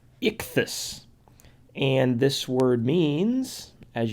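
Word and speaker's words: ἰχθύς: Greek writing this is the word that is pronounced Ichthus and this word means as you may have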